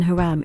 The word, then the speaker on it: Hiram: and a bronze worker in the king james version of the bible hiram is pronounced haram for hiram abif the